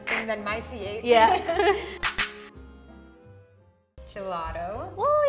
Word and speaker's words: gelato: one more time but with the english pronunciation okay don't make me go back there yeah gelato okay gelato why do you say do instead of two i think it just sounds more natural in english for lack of a